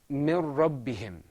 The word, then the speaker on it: من ربهم: This is pronounced mir rabbihim.